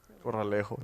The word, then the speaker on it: Corralejo: It's called Quita Peñas or Corale. Corralejo.